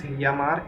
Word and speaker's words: llamar: If I say to call, it means llamar in Spanish. So this is the double L which we discussed in episode 1.